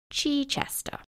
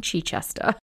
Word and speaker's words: Chichester: name Christopher decided to go with was Christopher Chichester which is the correct way to pronounce it but he being a German pronounced it incorrectly and called himself Christopher Chi Chester yeah no one's has gestures like that literally